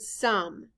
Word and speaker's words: some: s o m e in this word the letter o stands for the short u sound uh the e is silent blend with me now sky write the word sum s o m e